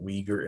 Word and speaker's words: Uyghur: not spelled right like you started with a u and a y but you call it weaker it's pronounced uyghur like